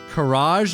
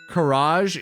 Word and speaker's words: karaage: Karaage is Japanese fried chicken.